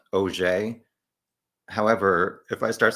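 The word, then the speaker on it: Auger: I believe her last name is pronounced OJ.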